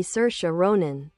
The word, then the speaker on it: Saoirse Ronan: Saoirse Ronan, pronounced SUR-sha ROH-nän, is an Irish-American actress born on April 12, 1994, in the Bronx, New York City.